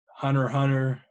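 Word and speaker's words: Hunter × Hunter: deadly sins and and Hunter hunter you know is spelled hunter x hunter you know supposedly it's called hunter hunter I call it under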